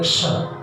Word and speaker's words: क्ष: हा के बाद जो शब्द आता है, अक्षर आता है, उसको कहते हैं क्ष, आधा क और मूर्धन्य श। लेकिन लोगों को उच्चारण में है वो छ बोलेंगे, धर्म क्षेत्र, कुरुक्षेत्र, अरे भाई छ का है यार। और ज्यादा स्पष्ट करना हो तो धर्म क्षेत्र, कुरुक्षेत्र, अरे खा का है वहां पर।